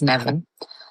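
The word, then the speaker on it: Nemain: So, any what's spelled main is nean.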